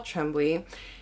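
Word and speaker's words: Tremblay: horror movie by Paul Trembley or tremble I think is how you say it is another horror book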